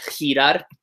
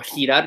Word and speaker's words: girar: Or GI is like a H or a H. So words like girar, or girar, depending on where you're from.